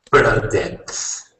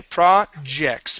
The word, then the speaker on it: projects: Projects. Okay, projects, projects. Projects. Okay, very good. Okay, give me an R sound there. So instead of saying pra, okay, we're going to say pr, pra, projects.